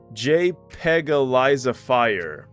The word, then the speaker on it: JPEGalizefier: Or I guess a more proper way to say it is JPEG-alizify.